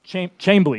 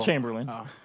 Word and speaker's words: Chamblee: with the baylor lariat so will chamberlain chamberley not will chamberlain i'm messing with you